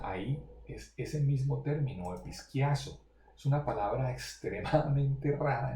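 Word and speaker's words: ἐπισκιάζω: Se llama episquiazo, se pronuncia más o menos así, episquiazo, ese término.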